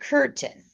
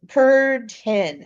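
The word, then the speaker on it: Kürten: And I want to do Peter Curten. Uh Kurten. I can't say it right. Not like a curtain, like a drapery, but ken.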